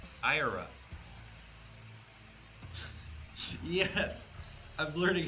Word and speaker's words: ira: Is it ire?